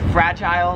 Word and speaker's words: fragile: just a minor difference 23 is fragile or it's fragile if you're american here in australia how they say it is it's fragile like they say isle we say 24 is missile or